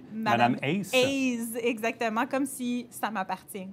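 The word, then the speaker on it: Madame A's: de bilinguisme mais bon ça se dit Madame as mais vous vouliez que ça se prononce aussi madame Ace exactement comme si ça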